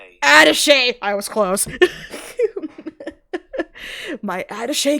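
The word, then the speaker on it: attaché: Oh, I forgot how to pronounce this. Ataché. Is it Ataché? Ate. I'm going to Google. Adese.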